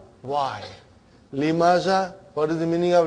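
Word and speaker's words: لِمَ: Lima. So ha will come as a silent lima. You are not pronouncing it because there is a sukoon on it.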